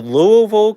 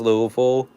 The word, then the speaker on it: Louisville: Also, the locals all pronounce Louisville as Louisville. Most people pronounce it Louisville, but all the locals and people around pronounce it Louisville.